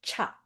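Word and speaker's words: 茶: China, so in the Chinese languages, T is pronounced as cha.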